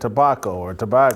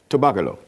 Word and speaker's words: Tobago: Well, first of all, I would like to say that if you're going to say it, I would like for you to pronounce it correctly. It's Trinidad Tobago.